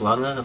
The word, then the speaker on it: Lange: It's not pronounced Lange, it doesn't rhyme with range, it's Lange because I think it's a Dutch name or something.